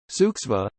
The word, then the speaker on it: Zugzwang: zugz Wang German 4 compulsion to move pronounced suksva is a situation found